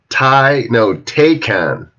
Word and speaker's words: Taycan: It was kind of scary when did I mispronounce it, Dan? Taycan.